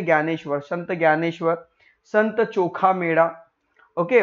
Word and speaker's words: ज्ञानेश्वर: फिर आज संत ज्ञानेश्वर इसे हम क्या पढ़ेंगे ज्ञानेश्वर स्पेलिंग शुरू हो रही है दी से पर इसे हम पढ़ेंगे ज्ञानेश्वर संत ज्ञानेश्वर संत chokhameda